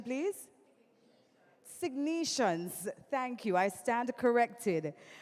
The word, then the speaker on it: Sygnus: right almost can somebody give me the proper pronunciation please signs thank you I stand corrected ladies and gentlemen